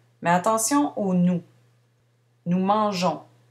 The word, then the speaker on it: mangeons: Nous mangeons. Ici, on conserve le E devant ONS pour adoucir le G. Sans le E, on prononcerait nous mangons.